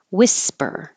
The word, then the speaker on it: whisper: Whisper. Forget about that H at the beginning.